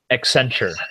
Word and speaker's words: Accenture: Accenture. So it's supposed to be like accent on the future.